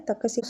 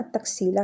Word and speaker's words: तक्षशिला: तकसीला उसका actual pronunciation ना तक्षशिला है।